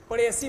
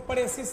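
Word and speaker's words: précis: Cloze test आता है, और उसके बाद पड़ेसी पढ़ेंगे इसको, पड़ेसिस नहीं, एस साइलेंट है।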